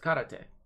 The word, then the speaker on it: karate: Japanese it began with karate yeah it all began with this little word party is karate is one of the principal martial arts was commonly Prince mispronounced as karate which really gets me at times but yeah